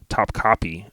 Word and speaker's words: Topkapi: TOPKAPI, Top Copy is how you say it according to Google.